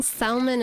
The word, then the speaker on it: salmon: The L in salmon is silent. Salmon.